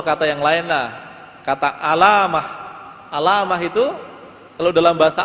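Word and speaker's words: علّامة: Nah, kalau bacanya di tasdid alamah, nah, artinya beda. Alamah pakai tasdid itu artinya adalah orang yang ilmunya luas.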